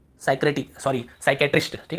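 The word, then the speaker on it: psychiatrist: Psychology से हम क्या पढ़ते हैं, साइकोलॉजी, ठीक है, साइक्रेटिक सॉरी साइकेट्रिस्ट, ठीक है साइक्रेटिस्ट।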